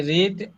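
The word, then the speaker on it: read: ইন the evening I রিড one hour আচ্ছা রিড এর past form বানানটা same থাকলে উচ্চারণ রেড হয়ে যায় আবার বলেন আই রেড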